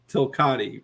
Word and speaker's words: Tilcati: into an acronym and pronounced Tilcati. It rhymes with Bugatti.